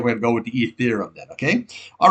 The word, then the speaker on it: Ethereum: I was pronouncing this thing Etherum. I don't know why I was doing that, but it's Ethereum. I heard a couple people on on Bloomberg say it's Ethereum.